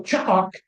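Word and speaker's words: Chaak: So Cha'ak sounds like the thunderclap, right?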